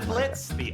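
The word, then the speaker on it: Blitzø: talker are we yeah I'm blitzki oh is Silent not sure we're gonna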